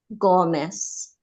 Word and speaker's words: Gomez: just unmuted um my the pronunciation of my surname is Gomez hello you hear me